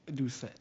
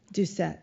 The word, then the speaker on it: Doucet: I didn't even ask you Morel if it's Ducet or Duce. You can pronounce it Ducet. Ducet.